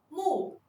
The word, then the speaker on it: 木: 木的拼音是木，木，它的声母是摸，韵母是乌，声调是第四声。